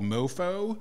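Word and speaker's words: MoPho: haven't talked to about one is called mofo which is spelled n o P H o the foe there refers to the Vietnamese soup and this is a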